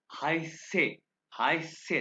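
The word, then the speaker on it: heiße: है, set asset asset यानी asset कि डबल एस। एसेट इसको अभी मैं जब कहूंगा ना तो आपको दो एस की आवाज आएगी। इश हाई से दो एस की आवाज आई, हाई से।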